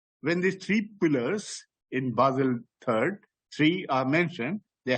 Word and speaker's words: Basel: The third Basel it is pronounced, we say Basel and whatever, is Basel, it's a town, and that pronunciation is Basel.